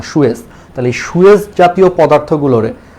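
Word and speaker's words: sewage: একটা কাহিনী আছে, আমরা বাঙালিরা কিন্তু একটা ভুল উচ্চারণ করি, আমরা বলি সুয়ারেজ বলি, যে সুয়ারেজের লাইনে সমস্যা হয়েছে, আসলে উচ্চারণটা সুয়ারেজ না, উচ্চারণটা আসলে হচ্ছে সুয়েজ, ইংলিশে বানানটা হচ্ছে এটা কেন জানি আমরা সুয়ারেজ বানায় দিছি।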